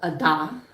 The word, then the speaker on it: Ada: and go over to an area called Ada it looks like Ada it looks like the name Ada but it's called Ada if you say it wrong you get the these really quizzical looks but I have a